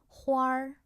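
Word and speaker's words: 花儿: But we actually usually say it as 花儿, 花儿. A little bit R pronunciation after 花, right?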